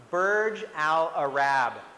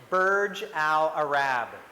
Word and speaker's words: Burj Al Arab: And in this name, it's pronounced Burj Al Arab. Can you say that? Burj Al Arab.